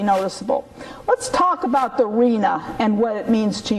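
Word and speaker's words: RHNA: Rena is the way it's pronounced to us people who are insiders.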